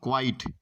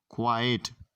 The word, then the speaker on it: quiet: are mispronouncing this word it is not called quite it is called quiet quiet means silence so